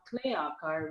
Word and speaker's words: ClayAKAR: We're now ClayAKAR, which rhymes. The reason we picked that name was because it rhymes with Kalakar, and which is Kala means art.